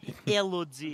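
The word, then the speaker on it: Élodie: table, Elodie. that's right. that's the correct way to pronounce So it.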